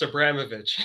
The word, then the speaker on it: Abramovitch: pronounce your last name it's pronounced abramovic abramovic i was going